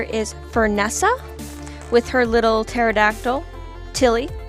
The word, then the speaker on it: pterodactyl: fernessa with her little pterodactyl tilly spelt the way you spell a pterodactyl with the silent p i don't like the